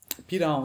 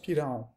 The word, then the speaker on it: Pirahã: Pylaens, ça s'écrit Pirahah, avec un tilde. Voilà, mais ça se prononce Pylaens. Ah, c'est pour ça que quand je tapais Pila en, ça trouvait C'est pas rien. un L, c'est un LA. Ouais. C'est un flap anglais.